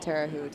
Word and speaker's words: Terre Haute: Tara Hoot, I think was her name. Terre Haute. Tara Hoot. Oh, but she pronounced it Terre Haute.